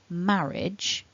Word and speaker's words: marriage: the correct pronunciation is marriage but many people mistakenly will have two vowel sounds in the final syllable but as you can